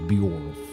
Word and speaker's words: Bjorf: The imposing godstone of Bjorf. It's like one syllable, Bjorf.